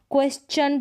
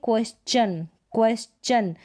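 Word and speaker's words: question: अब हम इसको क्वेश्चन पढ़ेंगे, क्या पढ़ेंगे, क्वेश्चन।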